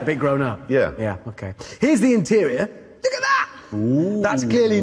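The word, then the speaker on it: Huayra: day what's it called it's called the her it's spelt H you a why are a the this in case you forget all that's the noise you make with your sick in the passenger seat yeah if you two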